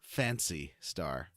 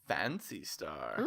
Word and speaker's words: Phantasy Star: also - I remember people playing PSO it's pronounced fancy star fancy star it's a false star did I explain what